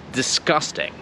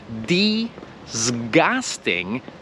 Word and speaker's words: disgusting: Instytut lingwistyki przedstawia prawdopodobnie wymawiasz to i i to g inaczej niż jak mniej TV wymawiają to i i to g zamiast mówić disgusting to my mówimy discussed in to Słyszysz to nie jest d zgas tydzień to jest discussed in że po pierwsze to